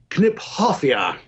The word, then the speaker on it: Kniphofia: let you know that I knew Mr knip off personally and you're supposed to say kniphofia there you have it